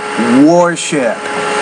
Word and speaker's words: warship: the word warship but pronounce it like War warship now here's your problem here